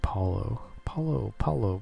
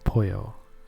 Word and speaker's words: pollo: But I was always saying it in my head like Paulo. And I'm just like, thankfully I never said it out loud until I heard it being said, and then I'm like, oh, I've been saying it wrong this whole time in my head. Thankfully, in my head. But yeah, it's pollo. It's Pollo, but it's pollo.